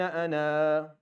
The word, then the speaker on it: أنا: it tells you that this alif is not recited or is not pronounced when you're reading continuously, and it's pronounced whenever you stop. So if you stop, you say كتب الله لأغلبن أنا. It's a full alif. If you go on لأغلبن أنا ورسلي, أنا ورسلي, there's no أنا ورسلي.